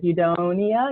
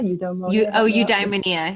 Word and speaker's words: eudaimonia: It's that, I cannot pronounce that word, eudaimonia. Eudaimonia, yeah.